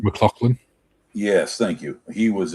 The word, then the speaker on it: MacLachlan: The young man that played in Dune, Kyle MacLachlan, I can't pronounce his last name. McLaughlin?